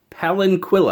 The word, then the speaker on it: palanquin: kudamon website called it a spring with a palanquin ah I hope I pronounced that correctly that's how that's what they called the locking mechanism spring and pallet Pelin palanquin ah there we go but it's pretty interesting